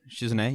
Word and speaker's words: Shizune: Exactly, like Shizune. Did I say that right? Shizune, yeah.